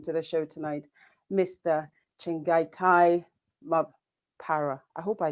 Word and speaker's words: Chengetai: In my pronunciation, in my head, it's Chengetai. Did I say that right? Chengetai. Chengetai, okay. Chengetai is Chengetai is the correct way to pronounce it.